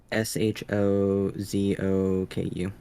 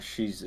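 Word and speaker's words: 装束: Shozoku. Okay, if you look up ninja, Oh, there it think is. that kind of style clothes. Okay, Shozoku, not Shizu.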